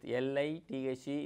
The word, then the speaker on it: lithe: L-I-T-H-E is pronounced as lithe.